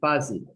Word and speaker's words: passive: Stress is the A, passive.